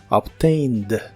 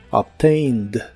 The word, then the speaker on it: obtained: el pasado es obtained se pronuncia casi igual que en el presente ya que la e que se le agrega no se pronuncia solo la d del final obtained obtained y en el pasado